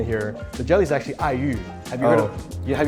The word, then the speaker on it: aiyu: Have you had aiyu before? No. It's a type of jelly dessert from Taiwan. And it's funny, it's perfect because I is spelled A-I in Pinyin.